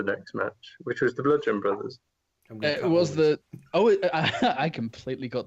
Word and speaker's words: Bludgeon Brothers: match, which was the Bludgeon Brothers. It was I completely got their name wrong. What'd you call them? I thought it was Gludgeon. What? With a G, Gludgeon Brothers.